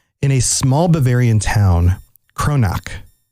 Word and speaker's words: Kronach: a small bavarian town kronac and maybe i'm pronouncing that wrong k-r-o-n-a-c-h kronach i think kronac is probably right and he made him